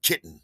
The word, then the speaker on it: KYTN: KYTN, pronounced kitten.